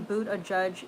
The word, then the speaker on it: Buttigieg: Stefan Boot a Judge is the pronunciation.